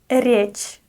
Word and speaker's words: речь: Речь. Soft ре.